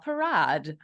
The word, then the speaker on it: Parad: now I completely ruined it so welcome Michelle parad it's it's a perfect pronunciation thank you having it's it's a pleasure